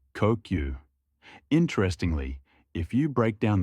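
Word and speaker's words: 呼吸: It's pronounced kokyu.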